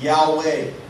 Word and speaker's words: Yahweh: it was actually spelled YH wh and it pronounced as Yahweh and then other translations it would say Jehova